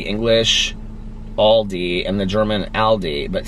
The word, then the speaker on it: Aldi: airport okay regarding the Aldi question did you know it's a German chain I pronounce it like Aldi when I'm speaking English but I guess it sounds a bit more like Aldi and German my German husband and